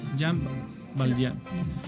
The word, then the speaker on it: Jean Valjean: Jean, como en francés, y se escribe Valjean, con J. Jean Valjean. Que es la historia de un presidiario.